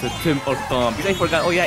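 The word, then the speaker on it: Tim Hortons: No, it's a Tim or Tom. I forgot. Oh yeah, H is silent in French.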